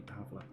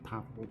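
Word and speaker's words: Pavle: generally going to be Pavla. I think that's the correct pronunciation of his name. I keep calling him Pavel, but you probably hear both pronunciations right this playthrough. But anyway, Pavla, I believe, is the correct pronunciation.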